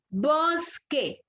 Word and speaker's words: bosque: Bosque. ¿Dónde tengo la fuerza de voz de la palabra bosque? Vos.